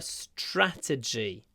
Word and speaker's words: strategy: to change our strategy make sure that you do a lot of uh aspiration when pronouncing this word straty strategy strategy and try to stretch your lips to get to the a stra stra strategy but when we say